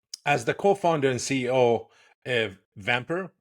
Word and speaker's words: Vampr: the co-founder and CEO vamper am I pronouncing it right I don't want to say vampire without vamper great a platform with